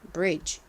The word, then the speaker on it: bridge: 중에서이 소리로 쓰였습니다 그리고 한국식으로는 이디를시오 받침으로 표기하고는로 표기를 하지만 원어 발음은 어떻다고요 DG 2로 끝나는 단어에서 는 소리가 나지 않는다고 말씀드렸죠 그리고 끝에 있는이는 바람 빠지듯이 이렇게 소리가납니다 그래서 Bridge Bridge 이렇게 발음해 주셔야 됩니다 Bridge 브의 의미가 뭐였죠